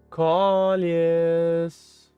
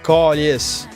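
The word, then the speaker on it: câlisse: Callius.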